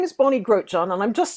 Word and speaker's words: Grotjahn: So yeah, so my name is Bonnie Grotjahn, and I'm just saying that because people look